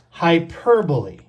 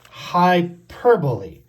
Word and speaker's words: hyperbole: sixth figure of speech this one is pronounced hyperbole hyperbole let's practice saying this